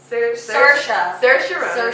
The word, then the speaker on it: Saoirse Ronan: Saoirse Ronan. It's a weird spelling, but that's how it's pronounced.